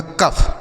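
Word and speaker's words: cough: इस ओ यू जी एच का उच्चारण हो जाएगा फ। ये लिखा गया आपका कफ।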